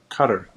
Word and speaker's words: Qatar: association with nobody from Qatar was there right we don't know uh nobody said they're from I think it's pronounced uh cutter I believe you're right that's right yep I do